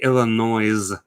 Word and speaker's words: Illinois: It is not pronounced with an S.